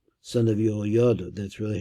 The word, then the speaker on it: Jehoiada: Benayo, son of Yoyada, that's really how I pronounce it, Benaiah, son of Jehoiada, was a valiant man of many achievements.